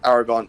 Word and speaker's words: Aragorn: it's it's Aragon is it Aragon yes it's Aragon Aragon is is the guy with the dragon